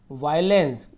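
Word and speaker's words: violence: यहाँ पे देखिए वायलेंस, एक दो अपवाद रहते हैं सभी में, वायो, VIO, वायोलेंस, वायलेंस, इसे हम ओ को अ पढ़ेंगे, वायलेंस, वायलेंस, आई के साथ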